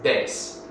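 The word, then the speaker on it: dez: G with one exception if the D or the te is within the word and not at the end of the word then it's still pronounced hard so for example the word for 10 in portug is des and not J or something like that so um we'll go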